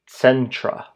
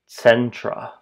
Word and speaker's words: centra: Centra sentra sentra.